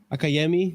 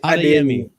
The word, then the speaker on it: Adeyemi: Akayemi. What's his name? The guy that cooked us last season? Is Adeyemi.